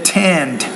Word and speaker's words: tend: And notice the word T, the tend, time. You need to pronounce that T with more air.